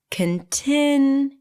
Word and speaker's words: continue: The primary stress here is on the second syllable. Continue. Graduation.